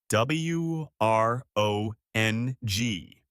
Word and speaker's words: wrong: W R O N G. The W is silent.